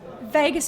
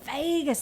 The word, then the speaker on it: vagus: it makes me laugh people we actually spell it incorrectly the the nurses and doctors out there think that we've think that we just can't spell it's v-a-g-u-s but we thought people might go vagus how do you say that and then we thought Vegas that's cool that's funky people want to go to Vegas um and the vagus